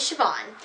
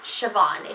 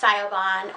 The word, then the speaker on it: Siobhan: But it's Siobhan. It's not pronounced Siobhan or Siobahan or anything like that. My name is Siobhan.